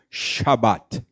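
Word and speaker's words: שבת: que pronunciaria mais ou menos como Shabat.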